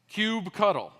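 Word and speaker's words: kubectl: interact with kubernetes obviously this word is pronounced cube cuddle because that's a cute as possible way to say it and this word is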